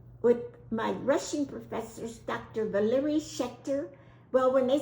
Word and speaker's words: Valery: but I found that Valery is a Russian name, and it's a male name, not a Valerie. It's Valery, pronunciation.